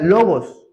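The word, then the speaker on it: λόγος: Si nosotros le damos la traducción al verbo en griego, se pronuncia logos.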